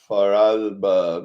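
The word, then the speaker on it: Vorarlberg: peninsula here of Austria called voralberg or falber because you have to pronounce the super D voice and here's Germany over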